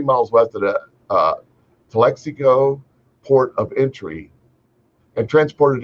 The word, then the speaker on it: Calexico: and I think that's Calexico I'm not sure how to pronounce that I'm from Southern California I don't know Calexico California Calico no it's Calexico U.S border Patrol agents